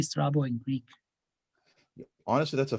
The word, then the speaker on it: Strabo: name and if you if you pronounce the b in the correct greek it would be stravo but means crooked so